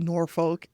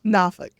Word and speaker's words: Norfolk: people who are not from there call it Norfolk and I just something in me dies a little bit you pronounce it again because I might be one of those people who nafik nafik yeah okay yeah stand corrected I grew